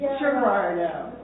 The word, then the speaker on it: Geraldo: It's Geraldo. If I just I put a hard G on it. It's supposed to be a soft G.